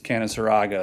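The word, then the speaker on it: Canaseraga: get to tell the second graders it is canon saraga and they argue with me and then i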